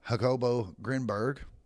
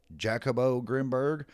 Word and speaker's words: Jacobo Grinberg: I've heard it pronounced Jacobo Grimberg, Hackabo Grimberg, and Yakabo Grimberg. And based on where he's from, it would most likely be pronounced with the H sound.